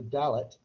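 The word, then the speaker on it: Dalit: a distinct drop so the final group pronounced as the dalot they are the untouchables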